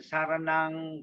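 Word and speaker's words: saraṇaṃ: Buddhang Saranang Gacchami. Buddhang Saranang Gacchami. Dhammang Saranang Gacchami. Sanghang Saranang Gacchami. Remember, M with the dot is pronounced as NG.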